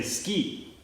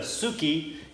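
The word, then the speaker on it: 好き: I'm going to say ski. Ski is another one that's going to be a little bit funky in the pronunciation. Instead of suki, it's ski. Think of like water ski or snow ski.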